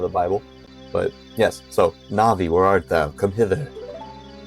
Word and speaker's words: Navi: names and different things na'vi right instead of Navi some people say Navi I say na'vi some people sayu I sayu right so I I base it off of the the Japanese pronunciation I guess you've always